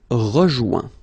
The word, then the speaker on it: rejoint: Okay, same thing, final T not pronounced. Joint. So when you get this O-I-N combination of letters, you get the sound ouin. Okay, joint, and then rejoint.